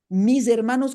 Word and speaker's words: mis hermanos: Le escribe con el sonido, la S sonora al final, mis hermanos, para que el que lo lea sepa, ¿verdad? De verdad cómo se pronuncia, ¿sabes?